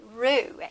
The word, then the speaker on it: roux: a lot of chefs and people call it Roux and I believe it's spelled r-o-u-x what it is is you're making